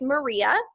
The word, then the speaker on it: MMRIA: who are not sure mmria is pronounced maria and this is actually